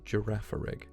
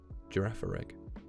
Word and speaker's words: Girafarig: I pronounce it Girafarig, which is funny because obviously like the G at the start is J, and then the G at the end is G. So Girafarig.